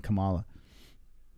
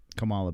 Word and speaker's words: Kamala: you how dare you you see how it said Kamala actually the the the reading of it was appropriate yeah they actually said it right I keep saying Cala Kamala bear uh thank you